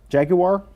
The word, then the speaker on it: jaguar: You say jaguar where jaguar? Yes, that's the way the British say it.